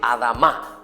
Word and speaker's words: Adamá: La palabra se dice Adamá.